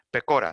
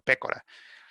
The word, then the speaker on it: Pecora: En realidad era italiano y en italiano su nombre se pronuncia Pecora, pero aquí en Estados Unidos él se llamaba Pecora. Entonces, se conoce así como la Comisión Pecora, no como la Comisión Pécora.